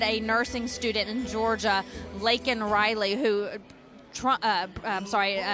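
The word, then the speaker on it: Laken Riley: nursing student in Georgia lakan Riley who Trump uh I'm sorry Joe Biden can't even say her name correctly he calls her Lincoln Riley he doesn't care if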